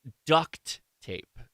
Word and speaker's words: duct tape: It is pronounced duct tape. It's with a T, not a K.